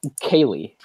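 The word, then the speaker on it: Ceilidh: of that for instance a popular Gaelic word that people know is Kaylee now a Kaylee means like sort of a party or a get-together the way Kaylee is spelled is like see this is this is paraphrasing this isn't but this is the ballpark of how you spell Kaylee it's like CEI LDH so try to get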